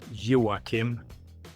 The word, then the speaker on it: Joacim: My given name is Joachim. That's my Swedish name. It's spelled in a slightly different way than most Swedish Joachims.